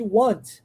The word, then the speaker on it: want: Um Azinho aberto, né? Want. Aí, se você coloca o O, aí você está fazendo a negativa de will. Aí vira won't. É outra pronúncia, ó. Want, won't. Ok? Parece, mas não é.